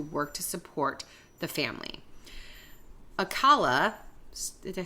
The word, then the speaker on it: Alcala: Alcala, did I say it right?